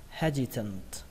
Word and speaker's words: hesitant: Từ tiếp theo, trọng âm của nó rơi vào âm đầu tiên, he, và ở đây chữ s nhưng mà cách đọc của nó là âm r các bạn nhé.